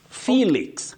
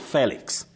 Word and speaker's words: Felix: Felix, not Felix.